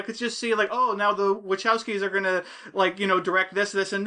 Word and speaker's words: Wachowski: But we get idiots like the freaking Wachowskis. How do you say it, Dave? Wachowskis. We're just gonna get Wachowski like Chewbacca.